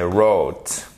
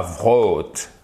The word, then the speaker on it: wrote: Vous devez avoir une espèce de sirène d'alarme qui s'allume quand vous avez un WR. Là, vous dites, oh là, est-ce que je le prononce? Souvent, non.